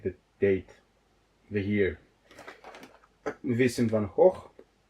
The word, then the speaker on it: Van Gogh: Vincent van Gogh. Van Gogh, yes, I know this is the way you should pronounce it. He was from the Netherlands.